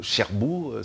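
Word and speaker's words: Şerbu: Et Cherbourg s'écrit avec S. C'est avec Cédille. Avec Cédille? Oui, c'est S avec Cédille.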